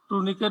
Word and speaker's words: tourniquet: এই বানানটা সবাই ভুল করে আর কি, টুর্নিকেট বলে টার্নিকেট বলে আর কি, টার্নিকেট বা টুর্নিকেট।